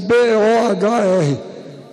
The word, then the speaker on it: Bohr: Inclusive Bohr se escreve B-O-H-R, que os gringos têm mania de usar a letra que não precisam, né? O que é que esse H está fazendo aí? Bohr, B-O-H-R.